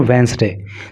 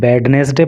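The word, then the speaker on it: Wednesday: The Kerala high court on वेंसडे। देखो, इसको कई लोग वेडनेसडे पढ़ते हैं, इसको आपको वेडनेसडे नहीं बोलना है, डी इसमें साइलेंट रहता है और इसको बोलते हैं वेंसडे।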